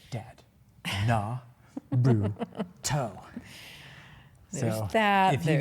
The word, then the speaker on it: Naruto: because I say it wrong, but it's like Naruto. Naruto. Yeah. She's like, Dad, Naruto.